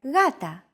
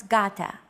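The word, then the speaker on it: γάτα: example is the word Gata meaning cat this is usually romanized with an initial G letter but it is no pronounce Gata the first consonant is softer Gata watching contemporary videos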